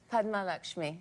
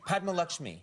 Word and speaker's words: Padma Lakshmi: so worried about butchering your name Padma yes Padma lakmi Padma lakmi that's really nice yeah someone just whistled at